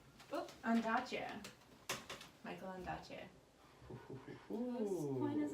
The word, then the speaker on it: Ondaatje: Ondaatje.